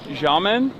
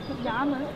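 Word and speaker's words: 衙门: The Xiamen? Xiamen.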